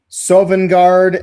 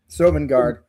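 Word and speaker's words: Sovngarde: How do you pronounce Sovenguard and Skull Dolphin in Skyrim?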